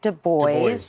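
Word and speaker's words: Du Bois: official holiday okay I'm looking up w eb de bois that's how you pronounce his name he was a civil rights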